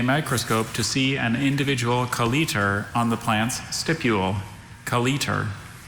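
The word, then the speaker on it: colleter: Which would clear up whether there any there's alternate one consonant or pronunciations? two. Oh, Just the one. Just one Kaliter.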